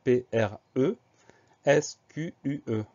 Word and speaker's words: presque: Donc automatiquement, la lettre E va se prononcer E. Ça nous donne P-R-E, S-Q-U-E.